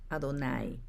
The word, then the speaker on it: Adonai: Cuando encontraron las letras de Yahweh en la Biblia, no dijeron Yahweh, sino que las reemplazaron por las palabras hebreas para Señor, pronunciada Adonai.